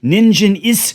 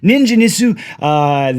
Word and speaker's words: Ningen Isu: I don't think you pronounce the ooh at the end of it like you would in English, but I think it's Ningen Isu.